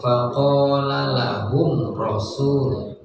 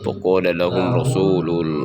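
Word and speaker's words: فقال لهم رسول: Untuk izhar syafawi cara bacanya tidak ditekan. Jadi langsung faqala lahum rasul. Nah, jadi tidak Qala lahum rasul. ditahan. Mim. Faqala lahum rasulul. Nah, itu salah.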